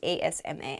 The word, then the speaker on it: asthma: is spelled very weirdly there's a th in there but we do not say the th it's it sounds like Asma Asma Asma is a